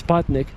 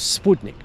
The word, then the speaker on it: Sputnik: satellite it was called the in English it's spotnik but it's uh the the self name was Sputnik so depending on how you want to pronounce